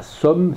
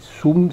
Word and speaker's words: sum: dure, de même que le sum se prononce, c'est pas somme, c'est sum, c'est-à-dire avec un ou.